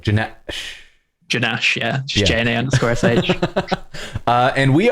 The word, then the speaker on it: J_Nash: Like you pronounce that with a pause. It's like Janash, yeah.